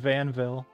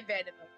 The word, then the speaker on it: Vanneville: I always just pronounced it Vanville. There's literally another I right there that would clearly make a sound, so I'm trying to figure it out. Vanneville. Vanneville. We'll say Vanneville.